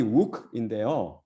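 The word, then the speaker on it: οὐκ: 그 다음이 wook인데요. 이거는 부정을 나타내는 우가 다음에 모음이 오니까 발음을 좋게 하기 위해서 wook으로 변했으며 no나 not의 뜻으로 뭐뭇이 아니다라는 뜻입니다.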